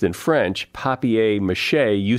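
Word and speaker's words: papier-mâché: it here good go papier mache is the correct spelling and pronunciation in French Laff isn't correct anywhere it's a very good point you're right what happens is that the again that we're talking about convention convention in English is as pronounced paper mache even though it's spelled papier-mache English what you're saying is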